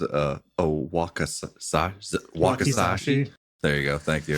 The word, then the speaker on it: wakizashi: Wakizashi. Wakizashi. Okay. That's definitely the So, pronunciation.